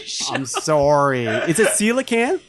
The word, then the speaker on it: coelacanth: It is the coelacanth, which is... Oh, that's how you say it. Yes, Tuong mispronounced it earlier in the show. I'm sorry. Is it coelacanth?